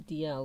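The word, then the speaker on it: Dashiell: of those ones where it's spelled dashiel but I think it'll be DL or something like that Hammett oh fair enough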